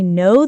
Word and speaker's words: know: I know the answer. Correct. Remember, the K is silent.